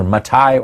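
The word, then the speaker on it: מתי: of a citation Oh Matthew of course is not a Hebrew way of pronouncing his name it was either mitai or Levi right his actual name but again during this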